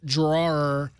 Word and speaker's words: drawer: I understand that the app drawer is spelled D R A W E R. I happen to be from Long Island and we say draw. So, or I say draw.